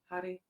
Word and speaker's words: Har: which is Hari, Hari, Hari, Har. So these are different aspects of creative energy, and then Har at the end, if you can roll your R, Har.